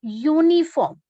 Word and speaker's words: uniform: U is vowel, but when we pronounce this word uniform, we get consonant sound.